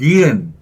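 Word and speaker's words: 니은: So, "ni." Then, the vowel "eu" comes, followed by a final consonant. That’s why "nieun" ends in "n."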